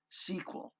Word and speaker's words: SQL: SQL is more commonly pronounced SQL.